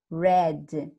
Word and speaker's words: read: um as Oi e o verbo ide ele só vai mudar pronúncia a gente vai ler Red mais escreve do mesmo jeito ele é um verbo